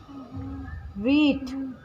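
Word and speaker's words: wheat: वीट। हम तो हीट लिख रहा है हीट। डब्लू तू पढ़ेगी या मैं पढ़ूंगी? डब्लू मैं तो हिंदी पढ़ रहा हूँ ना। है हीट मुझे साइलेंट बोला जाएगा डब्लू। वीट।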